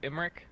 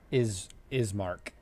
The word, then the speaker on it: Ismark: It was like Imric? Ismark.